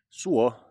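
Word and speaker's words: suo: does it mean um something else me but su is the only way you can say s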